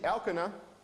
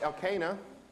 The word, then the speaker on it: Elkanah: So we're going to see Elkanah, but in English it's often pronounced Elkanah.